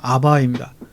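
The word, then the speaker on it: ἀββα: 헬라어에서는이 아빠가 아바입니다. 정확히 우리가 부르는 아빠와 같은 발음이에요.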